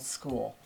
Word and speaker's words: Skool: I have a community on a platform called School. And it's not spelled like going to school. It's spelled SKOOL.